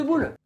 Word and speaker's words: Boole: Si vous voulez, il y a les commentaires pour que je vous fasse une vidéo sur l'algèbre de Boole. Mais non, boule ça s'écrit B-O-O-L-E.